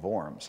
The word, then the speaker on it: Worms: recap now it's spelled w-o-r-m-s we say worms actually in german the w is pronounced like a v so it's the diet of vorms i used to say